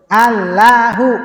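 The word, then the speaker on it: الله: Maka Hamzah i itu dibuang. Ini dibuang. Maka bacanya gimana? Allahuakbar. Ulang lagi. Coba ikuti. Alilahu. Alahu. Inya hilang. Jadi bacanya apa? Alahu. Nah, gitu. Ala Allahu gitu.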